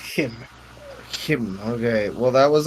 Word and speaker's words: CHIM: it Kim is how it's pronounced yeah it's pronounced Kim Kim okay well that was always the meme